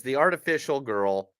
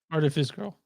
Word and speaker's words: Artifice Girl: And then the last movie is The Artificial Girl. Artifice Girl. Artifice. What? The Artifice Really? Girl. I've been mispronouncing it this whole week then.